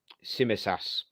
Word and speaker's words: Tsimikas: A bit of to me to you between Thiago and I know his name, I just can't pronounce it. Tsimikas, that's it.